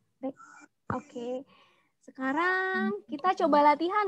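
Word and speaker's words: 백: Jadi 100 bukan dibaca baik, tetapi bacanya adalah bek.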